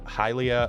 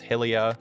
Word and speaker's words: Hylia: pronounce it foror and halia as well I say halia because it's Hyrule some people say it's Helia and some people pronounce the